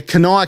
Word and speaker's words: Kanawha: it up like if you go to wikipedia kanoa county it shows you how to say pronunciation yeah so i was just kind of